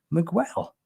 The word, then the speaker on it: Miguel: Miguel.